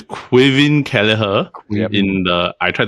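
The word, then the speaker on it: Caoimhín: Quin. Quin Keller. The pronunciation and the letters don't align. Yeah. So it's so it's actually uh uh what I read was it's a Gaelic version of Kevin Quin Kalaher.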